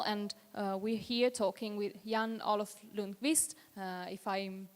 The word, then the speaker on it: Olof Lundqvist: So, we just said the title and we're here talking with Olof Lundqvist, if I'm pronouncing it correctly.